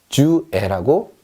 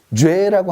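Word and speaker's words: j'ai: 합쳐서 뭐라고 읽냐면 죄라고 읽습니다. 죄. 프랑스어는요, 연음의 언어입니다. 앞뒤로 합칠 수 있으면 가차없이, 여지없이 합쳐버립니다. 아무도 이거를요, 주애라고 얘기하지 않습니다. 그냥 죄.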